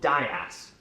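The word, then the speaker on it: DIAAS: It all comes down to one thing, something called dias.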